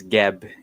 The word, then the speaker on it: Geb: and I told them my nickname, which is Geb, Geb, Mm-mm. and they made fun of me by mispronouncing it by saying Hev, and I kind of like that.